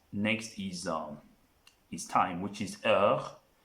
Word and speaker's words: heure: What starts next is time, which is heure. It starts with an H. If you remember in the alphabet, we say H is silent in the French language.